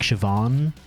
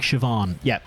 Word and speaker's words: Siobhan: i'd remind some like siobhan for example i'm just lost so basically basically in irish bh is v pretty much it's it's phonetically it's it's kind of basically v i just took damage